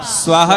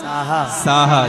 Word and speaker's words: साहा: क्या बोलेंगे प्राकृत भाषा में बोलते साहा क्या बोलेंगे स्वाहा नहीं बोलना क्या बोलना साहा जैसे नमो को प्राकृत